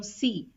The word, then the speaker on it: ces: For masculine plural, you put C-E-S, C-E-S, pronounced as Se, Se.